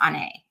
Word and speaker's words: Onae: pronouncing your name correctly like my name's Ane and people call me all different kinds of names and I have to like correct them but so when I see someone's they all focus on the o my name so I'm hoping I'm